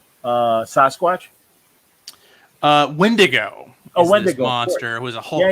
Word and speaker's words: Wendigo: Wendigo monster who was a Hulk villain. Yeah. Wolverine first appeared in Hulk. Or as my wife likes to call him, Wendingo.